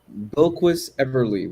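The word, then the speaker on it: Bilquis Evely: I always mispronounce her name. Um, Bilquis Everly, which sounds like somebody that works at Hogwarts.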